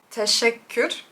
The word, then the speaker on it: teşekkür: Teşekkür. Teşekkür. Teşekkür. Teşekkür. That's not even close.